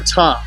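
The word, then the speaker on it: Ptah: of the deity called Pata or Ta if you use the silent P.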